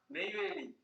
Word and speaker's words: Neyveli: How do I pronounce the name? Neyveli.